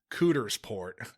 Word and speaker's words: Coudersport: I hope it's pronounced Cootersport, Pennsylvania. It's Coudersport. I really hope it's Cootersport.